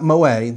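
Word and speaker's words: Moët: It's not Moet. The umlaut over the E's means you pronounce the T.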